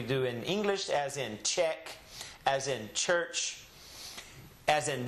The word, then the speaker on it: che: Well, in Spanish, the CH is actually called a che. That's what they call it, che. The Spanish name of these two letters is che.